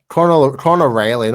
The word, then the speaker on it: Connor Riley: Connor Riley, not Lively.